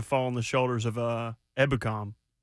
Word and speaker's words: Ebukam: Stopping Derrick's going to fall on the shoulders of Ebukam. Ebukam. Dang it, I said it wrong. No, you said it right.